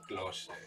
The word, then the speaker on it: Klose: That E is silent as a MF-er. Klose.